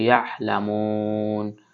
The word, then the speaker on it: يعلمون: জের মি, কওমি, ইয়াহ, এটা আইনটা হলকের মধ্যখান থেকে উচ্চারণ করতে হবে। ইয়াহলামুন।